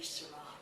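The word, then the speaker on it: Syrah: region back to France they pronounce the word shz in French to be sarra who calls the shaves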